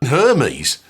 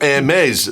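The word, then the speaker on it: Hermès: it's just that that I know how to say Hermes no her no because Hermes was the Olympian God I know what Hermes is and it's Hermes it's not mes that's some pretentious French TW made that's what I said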